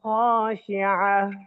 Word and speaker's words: خاشعة: আইন হা জবর আহ, أبصارها أبصارها خاشعة خاشعة, এমন যেন না হয় খাশিআহ এরকম। বলেন আবসারুহা খাশিআ। أبصارها خاشعة خاشعة হ্যাঁ, আবার আবসারুহা খাশিআ।